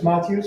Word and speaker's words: Matyos: for my benefit uh yeah my name is matus I see him pronounced and as Yan said I'm a community